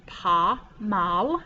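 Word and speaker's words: pas mal: up next and it's pa mal you don't say the s and it means not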